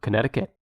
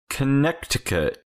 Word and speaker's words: Connecticut: one what's left uh connecticut connecticut is number three what a interesting little hint for how to pronounce the word you just say connect and then again i cut i cut yep cut connect and